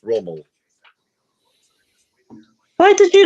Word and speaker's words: Rommel: it when you said Romy earlier on. That's Rommel.